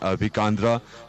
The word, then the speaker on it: Abhikandra: Sir, first and foremost, I would like to ask you, it's pronounced Abhikandra. What does it mean? Abhikandra means face like moon.